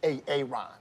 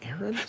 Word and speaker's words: Aaron: you say it the first time i said ay-ay-ron because it's pronounced aaron you done messed up ay-ay ron now take